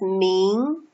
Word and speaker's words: 明: So this character is pronounced as 明, 明 means bright.